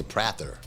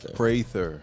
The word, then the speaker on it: Prather: I mean, I always say Prather. Yeah, it's like praise. Prather.